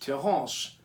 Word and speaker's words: Terrance: To subscribe is Terrance, pronounced Terrance, Terrance.